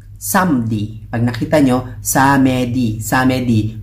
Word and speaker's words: samedi: Samedi, pronounced as samedi.